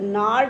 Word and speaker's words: gnarl: bones, reciting a father's gnarl disease. G is silent.